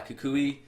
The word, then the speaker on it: Kukui: Yeah, Kukui. After the Kukui nut.